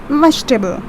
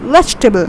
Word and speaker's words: vegetable: we call this as vegetable vegetable see you have to pronounce it quickly vegetable you don't say vegetables